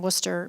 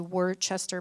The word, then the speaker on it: Worcester: in Worcester but it's it's pronounced it's actually word Chester but it's pronounced Worcester yeah yeah okay yeah okay so you know